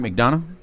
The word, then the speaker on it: McDonough: And we said it right, McDonough?